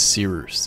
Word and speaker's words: Cyrus: So with that said, my name is Cyrus. It's spelled like Cyrus, but not like Sea Rooster.